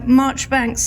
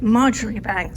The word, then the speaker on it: Marjoribanks: places around scotland where march banks links are found there is the march bank's farm in dumfricia and march banks although they actually pronounce it marjorie bank street in bathgate both of